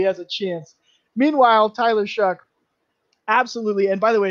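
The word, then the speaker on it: Shough: shall or show but you pronounce it shuck like you're shucking corn all right anyways i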